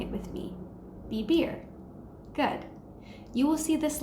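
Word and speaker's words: vivir: letter V in Spanish in Spanish B and V make the same sound so for example the word BB r which means to live and is spelled VI VI R is pronounced BB r try saying it with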